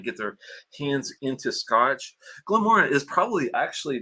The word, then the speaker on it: Moray: the glenmora and uh m-o-r-a-y some people probably say Moray but if you're being technical glenmora is what you want to call it the a the Y is silent put it that way